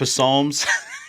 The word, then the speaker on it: Psalms: Was it Biden who said psalms? Who said the psalms? They were all looking at you like, the P is silent, bro.